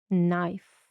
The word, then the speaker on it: knife: Letter F. Sound F. Пам'ятаємо про літеру і. Вона відкриває нам склад, але звука вона не дає. Knife.